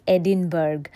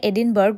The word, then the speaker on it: Edinburgh: Harry পটারের birth place এডিনবার্গ। Actually এটাকে এডিনবারা বলে। আমরা ইংলিশ উচ্চারণে এডিনবার্গ বলি। বাট স্কটিশে এটাকে বলে এডিনবারা।